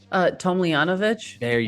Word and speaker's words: Tomljanovic: How do you pronounce her last name? Tomljanovic, which they're not together anymore.